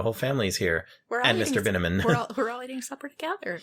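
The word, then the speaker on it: Binamin: Mr. Binneman rhymes with cinnamon.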